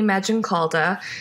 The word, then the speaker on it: Maggioncalda: So my name is Maggioncalda. It's a long Italian one, kind of sounds like magic cauldron. That tends to help people with the pronunciation.